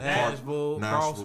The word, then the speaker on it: Nashville: that has "ville" in it is you just pronounce it "vol." Vol. So Nashville, Clarksville, Clarksville.